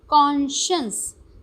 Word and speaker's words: conscience: कॉन्शियंस, CON cone है, और उसके बाद SCIENCE साइंस वाली स्पेलिंग है, बट साइंस वाली प्रोनाउंसिएशन नहीं है। ओके, प्रोनाउंसिएशन है कॉन्शियंस, लिखा भी है यहाँ पे कॉन्शियंस।